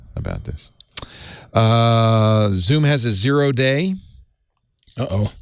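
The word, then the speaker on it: 0-day: But they said it's pronounced O-day. No, they're wrong. Okay. I wasn't going to take the New Yorker's word for it, but then I was like, have I really been saying 0 day?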